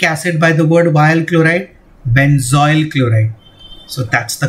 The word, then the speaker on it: chloride: It will be methanoyl chloride. Don't pronounce this as chloro. That was in halogen. Here it will be chloride only.